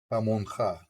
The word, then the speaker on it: Jamonja: Jamonja. Because if you pronounce it in Spanish, the J is a ja.